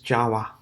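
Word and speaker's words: চাওয়া: To want is chawa, chawa. Choyakar o untustiakar. Okay, chawa. Yeah, chawa, chawa. Simplest way to pronounce it.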